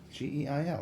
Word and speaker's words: Geil: Oh, did I spell it wrong? Is it I-E? No, it's Geil. Geil, that's what I said.